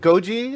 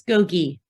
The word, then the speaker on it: Gogi: said sure right and is it Goji if I pronouncing your name I want to make sure I'm saying your name right go Gogi or Goji it's Gogi Gogi thank you so much